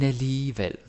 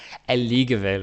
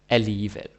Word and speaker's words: alligevel: Because you got to remember that G is either silent or is pronounced like a Danish J or an English Y. Alligevel, right?